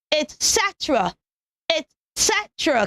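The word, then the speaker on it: etc.: not even Etc okay the first syllable of that word is it it okay so etc etc can we say that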